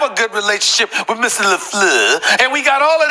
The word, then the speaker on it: LaFleur: We call him LaFleur on this show. We call him LaFleur.